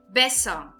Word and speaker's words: Besser: Besser. Besser. Aqui também eu estou pronunciando de uma forma curta o E, pelo motivo de nós termos dois S's aqui, certo?